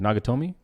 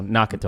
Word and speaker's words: Nakatomi: Can you pronounce is it Nagatomi? Nakatomi. Nakatomi. Okay, I said Nag, so Nakatomi.